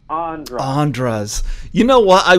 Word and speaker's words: Andras: Oh, you got the second syllable right. It's actually Andras.